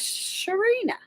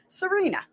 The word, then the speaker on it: Serena: So is Sharina. Shout out to Serena. Is it Serena? Yeah. Did I say it right? Yeah, Serena. It sounds like an SH, doesn't it?